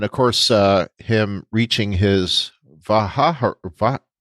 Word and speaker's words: Vaharai: Yeah, and for him, and of course, him reaching his Vaharai. Baharai. I almost gave it another syllable there. Vaharai.